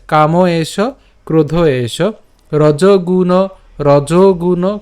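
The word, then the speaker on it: রজোগুণ: রজগুণ খেয়াল করুন, এখানে কিন্তু আমি রজ উচ্চারণ করছি, রজনা। ঠিক আছে, কারণ এখানে আমার কি আছে, ওকার আছে।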